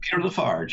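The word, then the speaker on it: Peter La Farge: Is that how you pronounce it? Peter Lafarge, yes.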